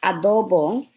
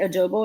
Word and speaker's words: adobo: He's going to do onion powder, adobo. Because I explained to him yesterday how to say it, because he was like, is it adobo? And I said, no, it's adobo.